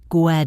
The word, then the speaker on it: get: The T in get is between the e and get and the o in over. So, it connects. Gwed over it.